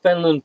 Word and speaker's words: Fenelon: And so all you other people out there, now you know the reason between the spelling of Fenelon Falls and the pronunciation of Fenland Falls.